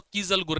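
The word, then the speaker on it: कीज़लगुर: डाई एटमसियस अर्थ जिसको हम लोग कीज़ल गुर भी बोलते हैं। अब वो अपना-अपना प्रोनाउंसिएशन है। मेरे मुंह से तो कीजल गुर निकलता है।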